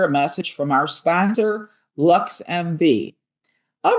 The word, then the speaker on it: LXMV: LXMV, pronounced LuxMV, is Chicago's first ever